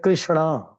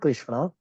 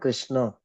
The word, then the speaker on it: Krishna: Sanskrit so it changes little bit so like Krishna it's not Krishna it's not Krishna also it's Krishna right so some some say Krishna it's not it's Krishna not Krishna not kishna so there are this BH not it is